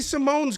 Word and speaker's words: Simon: no fancy Hispanic lettering it's just Ricky Simon but it's pronounced Simone he's taking on jvid